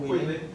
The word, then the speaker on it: Guilin: And then we went down to Guilin. I know I'm pronouncing that wrong. How do I pronounce that? Guilin.